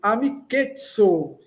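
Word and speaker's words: amikeco: E como dizemos amiz zade, amizade, amiketsu. Lembrando que o c tem o som de ts.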